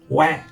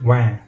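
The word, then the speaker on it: は: believe it is pronounced wa. Now, while this character is normally pronounced as ha, it is pronounced wa only when it is being used as the topic particle.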